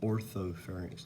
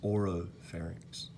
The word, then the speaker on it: oropharynx: A lot of students will say orthopharynx sometimes. It's oropharynx, okay?